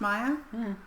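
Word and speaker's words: Maja: m a j a i think it's pronounced Maya cuz it's northern European language which I have forgotten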